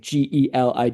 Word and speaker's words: Gaeilge: It would be something like this, like Gelig, and this is actually